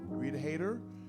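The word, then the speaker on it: Haider: We got hellos from Rita, H-A-I-D-E-R, Rita Hayter, Amy Siebold, would you say it like that?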